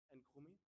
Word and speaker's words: Nkrumah: It is the Museum of the former president of Ghana, Nkrumah. Do I pronounce that right?